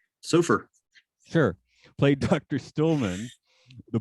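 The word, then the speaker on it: Sofaer: so far oh okay s-o-f-a-e-r how do you say that surfer sure played dr stillman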